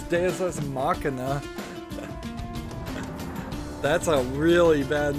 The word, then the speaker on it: Deus ex machina: It's not pronounced machine, Deus Ex Machine, it's Deus Ex Machina.